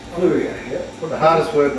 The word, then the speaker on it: Fleurieu: So we thought we'd come up and meet in person and have a taste of That's a new word, Fluria. Fleuriot. Fluria. That is Fluria.